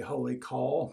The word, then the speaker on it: Wholly Kaw: the artisan Wholly Kaw, it's spelled Wholly as in W-H-O-L-L-Y, and then Kaw is spelled K-A-W. So sometimes I even will say Wholly Kaw, but Sri, who is the owner and creator and mad scientist over there at Wholly Kaw, it's my understanding he pronounces it as Wholly Kaw.